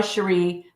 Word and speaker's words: Cherie: I go by Cherie, but a lot of people say Sherry, Cherry, Cherie.